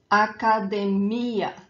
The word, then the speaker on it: academia: So for these words that end in ia, when they do not have a graphic accent elsewhere on the word, the emphasis, the stronger syllable is the last one, is that ia at the end.